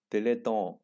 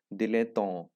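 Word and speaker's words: dilettante: दिलेटॉन, that's the correct pronunciation of this word, दिलेटॉन। Okay, तो एक French word है।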